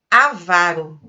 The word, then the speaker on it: avaro: Não sei se vocês já ouviram, mas a palavra certa é avaro.